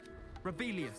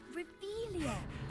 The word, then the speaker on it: Revelio: Rebellious. Saying it wrong. Ugh, Revelia. Much better.